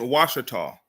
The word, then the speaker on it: Ouachita: And pronunciation Ouachita came about as a result of French settlers because the French had settled Louisiana. Remember, the French under, what's his name?